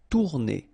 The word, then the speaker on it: tourner: Same thing here if you listen carefully. Tourner. R is not that strong.